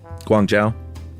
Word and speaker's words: Guangzhou: country by the way Josh you pronounced it super accurately this is how you pronounce it Guang Zhao Guangzhou good job thank you uh